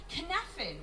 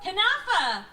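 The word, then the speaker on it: cynefin: They talked about how it can create conneffin, which is, I hope I'm pronouncing that right.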